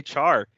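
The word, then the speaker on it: chr: is contentious apparently uh I say Char yes like you're saying Charizard but just like it stops short but like my friend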